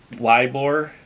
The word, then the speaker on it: Ybor: And Ybor City is Ybor.